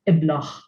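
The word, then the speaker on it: iblaħ: end of the word, the akka, which usually has no sound, it is pronounced as a h. So you have iblach, which means a stupid person, a stupid man, iblach.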